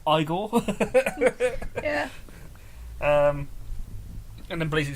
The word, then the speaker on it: Igor: Marty Feldman in his iconic role as Eagle igore sorry Frankenstein turns off he says it's pronounced Frankenstein get it right Eagle actually it's pronounced igore yeah um and then blazing headles which is